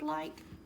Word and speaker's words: like: Do you know how to spell the word like? It's L-I-K And you guessed it, it's got that silent E at the end that makes the I say I. Go to the next line, two, T-O.